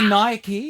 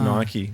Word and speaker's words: Nike: a brand starting with n Nella you say Nike it's pronounced Nike yeah can I penalize Ricky for saying Nike